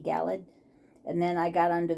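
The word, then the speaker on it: Galeed: it is called galled I guess that's how it's pronounced galled g a l e d galled and then I got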